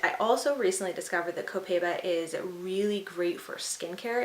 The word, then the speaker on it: Copaiba: So this oil that I picked up is Copaiba or Copaiba, I think some people pronounce it. I think it's Copaiba, that's what I'm gonna call it.